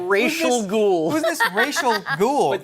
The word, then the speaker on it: Ra's al Ghul: And I like how at one point the Turtles are like, Racial Ghoul. Who's this Racial Ghoul? But this is amazing because that's the actual correct pronunciation.